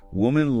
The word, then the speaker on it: woman: Woman lamb with the sound at the end versus women limen with the I sound. It's subtle but important.